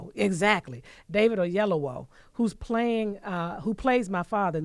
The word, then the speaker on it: Oyelowo: And we have a special tribute that will be done by David, and I always get his last name wrong, Oyelowo, exactly. David Oyelowo, who plays my father in the movie Selma.